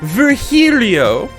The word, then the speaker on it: Virgilio: now we meet again bartender you look winded virgilio it's pronounced vergilio no i'm pretty sure it's virgilio you said